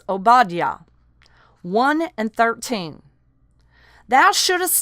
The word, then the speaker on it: Obadiah: Some say Obadiah. Some say Obadiah. It's pronounced Obadiah.